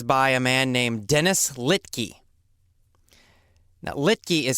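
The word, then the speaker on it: Littky: And The Big Picture is by a man named Dennis Littke. Now, Littke is spelled L-I-T-T-K-Y.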